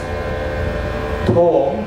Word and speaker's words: thom: So for the ghatam, the basic fingering syllables are ta, okay, T-H-A, ta, D-H-I-D, thom, T-H-O-M, and nam, N-A-M.